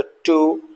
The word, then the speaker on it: two: TWO, यहाँ भी W silent है, तो टू, rap, wrong and wrist.